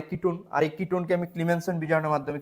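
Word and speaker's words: Clemmensen: Ketone থেকে কিভাবে আবার ক্লিমেনসন বিজারণ। এই বিক্রিয়াটা উচ্চারণটা ক্লিমেন্সন বিজারণ আপনারা যারা ইন্টারমিডি পড়ছিলেন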